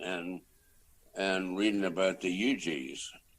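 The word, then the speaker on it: Huger: going to charleston and and reading about the ugs spelled h-u-g-e-r eugene oh okay i didn't know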